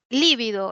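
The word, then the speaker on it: lívido: tenemos la siguiente palabra Cómo se pronuncia esta palabra es con líbido es es drujula Es drujula no líbido que significa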